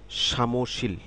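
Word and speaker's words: 사무실: গুদু গুদু এরপরে রয়েছে সামশীল এরপর হচ্ছে সামশীল সামুশিল তিন সিলেবা তিন সিলেবাসের শব্দ সামুশীল সামশীল সামশীল শব্দের অর্থ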